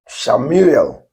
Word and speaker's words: Shemu'el: have asked of yahwah if you have to pronounce these words we are meant to say that shamuel which means because I have asked of I